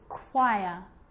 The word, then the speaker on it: choir: occasions it's not pronounced the h is silent so it's choir choir echo echo with